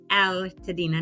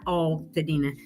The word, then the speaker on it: Altadena: the correct pronunciation and it's aladina not all TOA so she said you need to go ahead and make a song about that it's Al not all right that'll be the